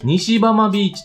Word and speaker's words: 北浜ビーチ: まず 1 つ目、北浜ビーチと書いて西浜ビーチと読みます。